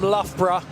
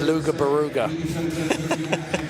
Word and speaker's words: Loughborough: Okay, Cam Peak on course, the kid from Loughborough. If you saw this written down, Chris, you might struggle to say it. Most Americans see it as Luga Baruga. But it's spelled L-O-U-G-H, B-O-R-O-U-G-H.